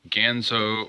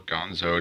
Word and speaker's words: Ganzo: cheap knives okay so these are gonzo or ganzo depending on how you pronounce it knives they said for